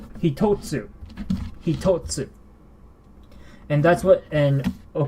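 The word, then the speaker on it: 一つ: This is not pronounced ichitsu. No, we do not say ichitsu here. And how do we know this? Well, because of the tsu. When you see the tsu, we have a different way of pronouncing this. Hitotsu.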